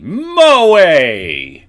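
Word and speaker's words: 萌え: okay we got three tips now let's see Moe pronounced Moe in otaku culture it refers to feelings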